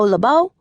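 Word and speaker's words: LoBeau: My name is Labau with the accent on the end.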